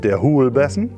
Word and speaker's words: Huulbessen: Yes: Huulbessen. What? Huulbessen. Huulbessen? – Yes. – How do you spell that?